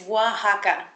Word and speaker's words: Oaxaca: up It's Tricky yeah it's w it's Waka W uhuh like w ah Waka uh but it's spelled o ax AA yeah yeah it actually